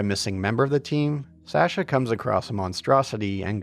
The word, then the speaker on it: Sasha: I'll get comments about it otherwise I know Americans say Sasha but in England and here in Canada it's pronounced Sasha one of those many Oddities of the English